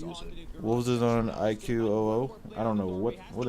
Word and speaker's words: iQOO: left hand go throw that's what this is pronounced IQ China is using any